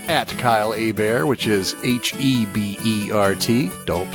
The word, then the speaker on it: Hebert: At Kyle Hebert, which is Hebert. Don't spell it Herbert.